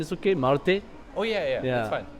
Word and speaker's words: Marte: My pronunciation is okay, Marte?